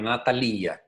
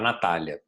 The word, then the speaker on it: Natalia: e ela motor italiano então a pronúncia correta do nome na Talia né mas nós estamos no Brasil Então vamos aportuguesar fica muito mais fácil outra nossa conversa né A Natália é guinsburg pode-se digitar